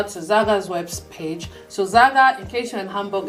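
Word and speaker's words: SAGA: So Zaga, in case you're in Hamburg, is spelled S-A-G-A, Zaga, the way it's pronounced.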